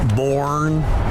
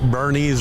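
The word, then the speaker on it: Boerne: Nico it's one Army it's pronounced with an a born Bernays Bjorn burn they always say born we tell people Weekend At Bernies or Bernie that's that's how you pronounce it I think we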